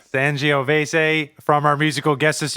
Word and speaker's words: Sangiovese: It's a soft G. Sangiovese. Sangiovese from our musical guest this evening, Bob Ardern.